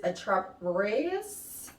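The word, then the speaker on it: Attrape-Rêves: Okay, the name, how you pronounce it is Attrape-Reves Louis Vuitton fragrance.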